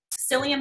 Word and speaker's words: psyllium: encourage psyllium husk fiber psyllium husk that's spelled with a psy that's all I can